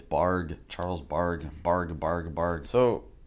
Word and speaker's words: Bargue: started on these charles borg barg borg bark i keep keep mispronouncing his name it's barg charles bark bark bargabard